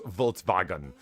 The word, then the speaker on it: Volkswagen: In German 5 is I'm assuming that's in German V is pronounced like an F. Not that I take pride in my German car or anything. It wouldn't be Reich. Stop it. Also, the W's are pronounced like V's.